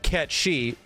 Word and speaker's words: Cait Sith: that is no longer c-a-i-t-s-i-t-h you pronounce that cat she no you don't like